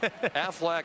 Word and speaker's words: Aflac: Aflac, Aflac, Aflac, in case I miss one next week. I want you to say it like the Duck.